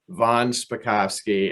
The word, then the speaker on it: von Spakovsky: i appreciate you inviting me here i'm hans von spakovsky and i know it's not a typical name